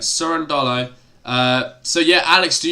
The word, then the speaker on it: Cerundolo: how are you mate it's actually uh surrender so surrender not cur sure okay all right that makes more sense isn't it but it's it's spelt curran dollo all right soren dollo uh so yeah alex